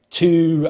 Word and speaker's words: two: as some diphthongs, which is when we have two vowel sounds in in the same syllable.